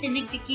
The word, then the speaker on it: synecdoche: सिनेक्टिकी का मैं स्पेलिंग आपको यहाँ पे बता देती हूँ, SYNECDOCHE, इसे हम सिनेक्टिकी कहते हैं।